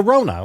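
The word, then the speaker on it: Ronna: And she, the Rona, like coronavirus. Isn't that how you pronounce it? No, I don't believe so. I think it's like Ron, like Ron DeSantis in well, drag.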